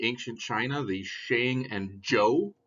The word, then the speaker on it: Zhou: China the Shang and Joe pronounced Joe like the person's name dynasties talk about technology